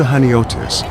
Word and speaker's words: Chaniotis: If you've come to Haniotis, Hanioti as locals say, the beach is probably why.